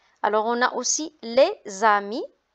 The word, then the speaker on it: les amis: Alors on a aussi les amis. S devant une voyelle, on fait la liaison, on dit les amis.